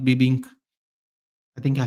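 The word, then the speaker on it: bebinca: B E B I N C A Binka, but it's pronounced Bibbink.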